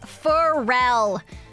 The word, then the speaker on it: Pharrell: It's pronounced as Pharrell. Pharrell Williams, with the emphasis on the second symbol of Farrell.